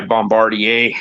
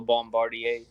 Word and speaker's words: Bombardier: All Bombardier. Sea-Doo, Ski-Doo. Yeah. Say it like a real Quebecer. Bombardier.